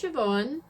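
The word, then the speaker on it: Siobhan: right into it then so my name is sioban it is an Irish name it's spelled crazy I get asked about it all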